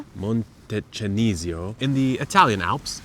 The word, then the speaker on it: Moncenisio: Mont Cenisio. Monte Cenisio.